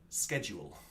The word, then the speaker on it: schedule: You Americans, this is how we Brits, English people say schedule.